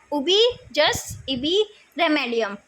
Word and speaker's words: ubi jus ibi remedium: इसको प्रोनाउंस ऐसे ही करते हैं, उबी जस इबी रेमेडियम।